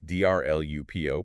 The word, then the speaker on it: DrLupo: Jer Lupo, and that's D R Lupo, pronounced Dr. Lupo, just so we're clear.